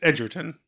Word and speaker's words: Egerton: I thought it was Edgerton. It's Egerton. It's Eger, so it would be Egger, but I think he I pronounces think- it Edgerton. I don't know.